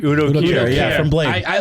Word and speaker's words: Udo Kier: Udo Kier.